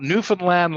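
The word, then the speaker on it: Newfoundland: part of the country it's called newfinland Labrador if you want to pronounce it correctly because part of the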